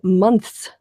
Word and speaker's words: months: to which that's actually a very complicated series of sounds to put together if you're not used to having the th and the S because there's a soft